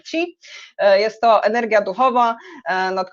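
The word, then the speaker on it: qi: To jest to, co macie tutaj jako ki zapisane. Ki to jest wymowa z naleciałością japońską. Po chińsku mówimy ci.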